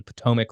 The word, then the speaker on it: Potomac: original creation of a national capital on the Potomac River and I think I pronounced that right did I pronounce that right